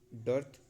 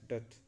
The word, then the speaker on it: dearth: यहाँ पे are silent रहता है, तो इसे डर्थ बहुत लोग पढ़ेंगे, बहुत लोग, मैं भी कभी पढ़ देता हूँ। डथ यहाँ पे एक्चुअली प्रोनाउंसिएशन है डथ, a lack of something,